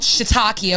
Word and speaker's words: shiitake: I believe we got 2 Korean barbecues with I would pronounce it shiitake, but I've been corrected. It's called shiitake, okay?